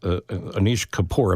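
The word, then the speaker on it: Anish Kapoor: please welcome to the program um renowned artist Anish kapor am I pronouncing that right oh you are yes you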